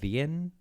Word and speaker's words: Wien: The W at the front is for Wien, W-I-E-N, of Wien, which is Vienna in German. Oh, okay, here we go. The W is pronounced more like a V in German, so it's more like Vega and Wien.